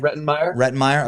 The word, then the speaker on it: Rettenmaier: Get the pronunciation right? Rettenmaier.